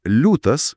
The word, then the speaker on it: liūtas: consonant L is hard, but in the word "liūtas" (lion) - soft L. In writing, this softness before back vowels is marked by inserting the letter I. It itself isn't pronounced, but signals soft pronunciation.